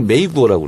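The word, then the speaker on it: 美国: 미국을 메이구어라고 그래요. 메이구어? 미국. 그래서 미가 아름다운 미자가 메이로 발음나고 메이. 국이 구어. 메이구어.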